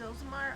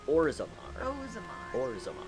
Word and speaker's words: Orzammar: Is Ozamar, how do you say the dwarven city? Orzammar. Orzammar. Can we go there?